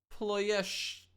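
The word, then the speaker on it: Ploiești: Ployesht. No E at the end? Ployesht? Ployesht. Don't know how good that is.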